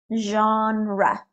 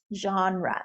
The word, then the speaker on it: genre: topic all right so it is a French word so the pronunciation's a little difficult genre genre so we don't have the S on the end and it's the Sonata genre it's genre okay if you hear